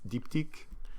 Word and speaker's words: Diptyque: And especially when you pronounce it like with a French accent, then it's diptyque.